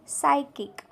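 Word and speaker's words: psychic: इथे P silent आहे next आहे सायकिक बघा या वर्डच्या स्पेलिंग मध्ये सुद्धा पी आहे पण इथे इथे पी सायलेंट आहे नेक्स्ट सायकट्री सायकट्री इथे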